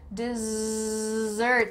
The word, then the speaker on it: dessert: Oh, why is there a Z in the middle of this word? Dessert, there's a lot of vibration going on here, dessert, dessert, dessert.